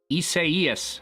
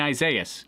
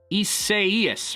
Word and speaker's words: Isaias: when i was saying hurricane isaiah's it's like isaias or something like that i still can't